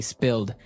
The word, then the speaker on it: spilled: Okay, spilled. Now, it's pronounced differently from spell, right? That's right. It has spill. an I, spilled.